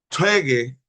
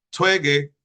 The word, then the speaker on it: 퇴계: 원효, 율곡, 중근, 퇴계, 화랑, Bien, como ven, dice Twege y Huaran. Twege y Huaran. Es la pronunciación correcta, según el hijo del fundador, como coreano, claro que es, pues pronunciando.